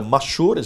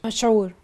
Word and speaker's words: مشهور: Go ahead, the mashhur, am I correct how you say it? مشهور.